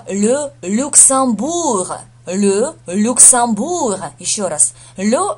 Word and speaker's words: le Luxembourg: Произносится Le Luxembourg. Le Luxembourg. Еще раз. Le Luxembourg. Откуда взялось ам? Потому что ЕМ это читается как ам, ам через нос.